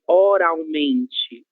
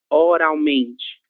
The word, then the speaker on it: oralmente: Em razão disso, nós continuamos pronunciando com som de U, ok?